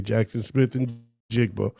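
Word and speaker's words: Jaxon Smith-Njigba: when presenting the award, and he called him Jackson Smith nigabboa and he said it more than once and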